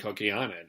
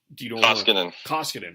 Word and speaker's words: Koskinen: Oilers are dealing with Talbot and Kokianen, or I butchered that guy's name. Koskinen. I don't know why. Yeah, Koskinen. I mean, he got off to a really good start.